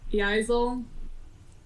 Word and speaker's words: Yaikzal: Her name's Yaikzal. The K is silent.